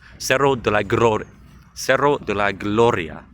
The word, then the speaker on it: Cerro de la Gloria: Cerro de la Gloria.